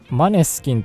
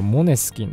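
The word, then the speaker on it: Måneskin: 続いてマネスキンと書いて読み方はモネスキンだそうですが、ゴシ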